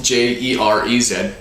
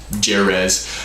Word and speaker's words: Jerez: from the small growing area of jerez it's spelt j e r e z res uh jerez and that classifies it